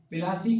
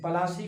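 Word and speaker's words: Plassey: फूल बहुत थे और अंग्रेजों के गलत प्रोनाउंसिएशन की वजह से पलासी का प्लासी हो गया।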